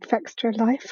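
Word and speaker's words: Fextralife: game, is someone called Fextra Life, I think is how you pronounce it. It's like Extra Life, but with an F on the front.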